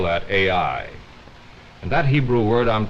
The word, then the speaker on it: Ai: You spell that A-I.